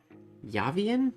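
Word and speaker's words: Yávien: There's Yavanna and Yavian? Is that how I pronounce that? There's an accent on the A. Y-A-V-I-E-N. Yavian? Not Yavian. Yavian. Yavian? No, there'd be two N's if it was Yavian.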